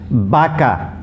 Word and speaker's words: vaca: b s o baso basso means a glass baka baka's a cow okay baka this is vacations